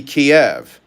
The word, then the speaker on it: Kiev: It used to be Kiev, Kiev, Kiev. But in 2018, they changed it to Kyiv, Kyiv, because Kiev was the Russian pronunciation.